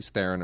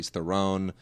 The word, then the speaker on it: Theron: like Charlie's theren is one who always gets it both ways Charlie Theron or Charlie theone uh you know we